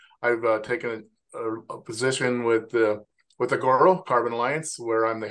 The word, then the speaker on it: Agoro: Agoro Carbon Alliance, the long version, but Agoro is a good way to go too.